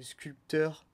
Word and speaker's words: sculpteur: à dominante non fonctionnels donc sculpteurs se prononcent sculpteur mais le p vient finalement d origine du mot comme le rhume avec